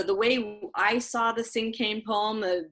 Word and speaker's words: cinquain: Cinquain?